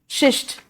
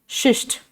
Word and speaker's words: schist: So example of the metamorphic rocks are शिस्ट, SCHIST, शिस्ट. Slate, marble, gneiss, GNEISS, ji silent है, नीस.